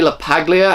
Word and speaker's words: LaPaglia: First off, the father, played by Anthony LaPaglia, I believe is how you pronounce his name, he was really good.